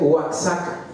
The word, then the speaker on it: Oaxaca: Oaxaca se escribe Oaxaca, pero se pronuncia también Oaxaca, ¿sí?